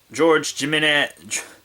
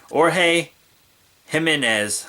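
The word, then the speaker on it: Jorge Jiménez: George Jimenez, sorry, I pronounced that incorrectly. That's my bad. Jorge Jimenez, I think is how that's pronounced.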